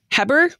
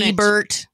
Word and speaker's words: Heber: Heber, I'm going to say, because he was Anglican, not French. Could be. I'm just going to go just with own Hebert. Heber. Who Heber. Lived, probably Heber.